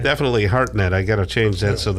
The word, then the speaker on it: Hartnett: Hartnett, yes. Okay, well, it's spelled absolutely wrong.